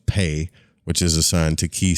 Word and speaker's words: Pe: the meditation on the letter pay pronounced pay which is assigned to